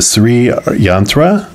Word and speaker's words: Sri Yantra: The Sri Yantra, I think that's how you say it, it's S-R-I and then Y-A-N-T-R-A.